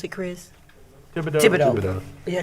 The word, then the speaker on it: Thibodeau: I think, is that the right way to pronounce it, Chris? Thibodeau. Yeah, Thibodeau.